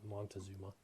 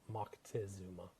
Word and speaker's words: Moctezuma: a guy by the name of Moctezuma, or Montezuma, as they say here in the States, but it's Moctezuma is the appropriate pronunciation.